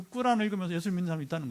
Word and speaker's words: 꾸란: 물론 뭐 필요하면 꾸란이라고 그래요. 원래 아랍어로 꾸란. 우리는 코란이라고 하는데 그냥 발음하듯이 거기 예수님 이야기가 있대요.